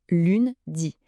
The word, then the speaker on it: lundi: On commence donc la semaine avec lundi. La prononciation est assez simple. Lune dit. Le petit piège c'est le son 1 qui est un son nasal typiquement français.